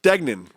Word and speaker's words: Dignan: Dignan. It's so easy to pronounce.